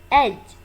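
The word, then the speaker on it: edge: impose आयद करना, throw out पूरी तरह, नेसेसरी लाजमी ज़रूरी, एज इसमें डी साइलेंट है, एज किनारा, बिफोरहैंड पहले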